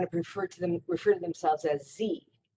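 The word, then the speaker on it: ze: So, for example, some people want to refer to themselves as Z, that's spelled Z-E, or here, pronounced spelled H-I-R.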